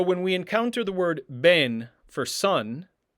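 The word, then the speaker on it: בן: So when we encounter the word ben for son, there's a dagesh in that word, and therefore the beit is pronounced as a b, as in boy, ben.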